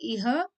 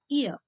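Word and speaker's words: ihr: H in the middle of any word in German should be silenced. That's why I don't say eer but then I say ear come.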